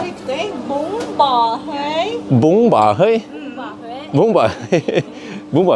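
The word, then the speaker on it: bún bò Huế: And it's called it's called bông bò hơi. Wait, how, vad heter den här igen? Den där, vad heter den? Du uttalte riktig. Bông bò hơi.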